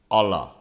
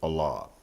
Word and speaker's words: Allah: start right off with Allah okay some like to say Allah some say Allah okay what and who is Allah my Muslim friends pronounce it Allah I do have some